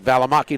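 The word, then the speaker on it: Balimaki: Valamaki. B A L I M A K I. Okay. At least it's spelled like it sounds.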